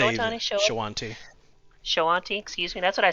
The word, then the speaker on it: Shoanti: It's I don't know how familiar you are with the Showatani. Showatani? Is that how you I'm pronounce going that? to say Showatani? Shawanti. Shoanti, excuse me.